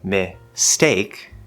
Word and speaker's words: mistake: want to say mistake the take part is the stressed syllable so you would think that it should be strong but that s in miss is sort of connecting over that's what s does it connects with a lot of consonants even inside words and so it's more like me stake so now it sounds like the word stake and that s just really softens it now just like the